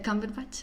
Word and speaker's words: Cumberbatch: Se pronuncia Cumberbatch, lo siento, no pongáis esa cara.